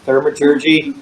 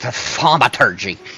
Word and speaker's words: thaumaturgy: Okay, the metallurgy or the thermology, thermaturgy, thermathingy. Thermaturgy. Neither one of them can speak. I believe it's pronounced thaumaturgy. Well, fine.